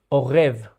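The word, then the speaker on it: עורב: The middle letter is the letter that creates the sound r. So, this will be orev.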